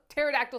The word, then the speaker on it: pterodactyl: know silent letters paradox pterodactyl starts with a silent p pterodactyl right pterodactyl you're